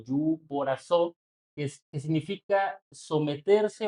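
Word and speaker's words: ὑποτάσσω: Es una palabra griega que se traduce como, bueno, se pronuncia como yuporazó, que significa someterse o ponerse bajo el rango de alguien superior.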